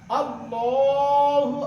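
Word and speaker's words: الله: কি হবে ল ল হবে ওই আকারটার হবে আল্লাহু আকবার আল্লাহু আকবার আল্লাহ শব্দের তাসদিদের ডাইনে আল্লাহ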